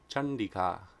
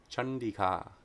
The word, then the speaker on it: Caṇḍikā: So if anuswara precedes a cerebral sound, it's pronounced like the cerebral nasal na. There's a couple nice examples here. Number 755, Chandika, Chandika, Chandika.